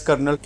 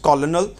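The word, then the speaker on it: colonel: इट is pronounced as कर्नल, इसे एज ए कर्नल शब्द pronounce किया जाता है। आई यूज़ to think that it's pronounced कॉलोनल, बट मुझे ऐसा लगता होता था कि इसे कॉलोनल कहा जाता है।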